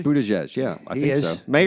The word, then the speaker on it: Buttigieg: I actually think Are you pronouncing that correctly? Buttigieg, yeah, I think is.